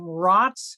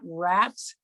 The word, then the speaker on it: Rotz: And Jeff, and I believe you pronounce his name Rotz, not Rats.